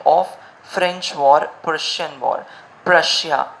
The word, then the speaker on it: Prussia: Prussia, Russia हम जानते हैं, उसके आगे हमें P लगाना है and the pronunciation will become Prussia.